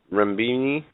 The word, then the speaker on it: renminbi: Goes on to say that it would certainly help China's objective of making the renminbi. I'm sorry. How do you pronounce that?